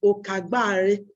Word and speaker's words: Okagbare: of Delta State and the correct pronunciation of the name is okagbari okagbare means the different